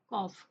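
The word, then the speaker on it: cough: Okay, next है कॉफ, इसे कॉफ पढ़ेंगे।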